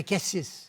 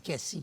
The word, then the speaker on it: Cassis: » Bon, alors il dit « Ici, on dit Cassis. Ah bon. Mais en général, les Québécois et certaines parties de la France, ils disent Cassis. Parce qu'ils prononcent le S, là.